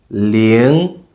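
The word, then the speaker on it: 零: 0 is pronounced ling, ling. So that's the second tone.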